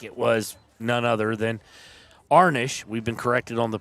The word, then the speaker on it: Arnish: I think it was none other than Arnish. We've been corrected on the pronunciation.